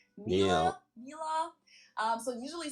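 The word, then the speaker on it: Miele: usually say something like mil. Um, so it usually sounds more like an a in the end, whereas in German we say mil. So the last letter is just a little bit different.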